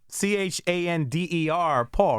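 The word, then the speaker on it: Chanderpaul: But it's like, it's spelled actually Chander Paul, right? Chander Paul, so it's like Chander. Like if I was going to read it, like Chander Paul. Chander Paul. So you're saying Chander Paul.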